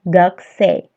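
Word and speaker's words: 学生: eight B Ayo kita gakusei itu bacanya gagsa punya melebur menjadi gagsa kemudian Keiko sang wa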